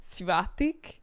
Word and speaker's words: Svatik: But his online moniker is Svatik. It's like CVATIK.